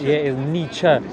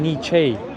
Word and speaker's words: Nietzsche: It's Nietzsche, because I kept saying Nietzsche, and I got told off by a few people. Then I was like, okay. Like, conceptually, it says Nietzsche.